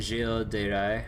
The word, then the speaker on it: Gilles de Rais: It's supposed to be Gilles de Rais or something like that.